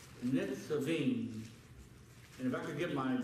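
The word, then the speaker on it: Nitzavim: But let's go to Deuteronomy 29, because we're going to talk about today something that is called Netzavim. Netzavim.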